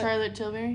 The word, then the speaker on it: Charlotte Tilbury: in huge ass how you say it Charlotte Charlotte Tilbury that is right which I have never been